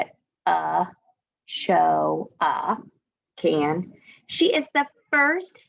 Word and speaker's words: Ochoa: Ellen Ochoa, remember it shows you here how to say it, Ochoa, can.